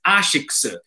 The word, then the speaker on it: Asics: my Asics shoes and I get corrected and they say it's Asics. And I say, no, it's Asics because it's an acronym for Anima Sana in Corpore Sana, which is like sound body, sound mind in Latin. And in Japan, they spell it in katakana and it's Ashiksu. So in Japan, we say Asics, but here everyone says Asics.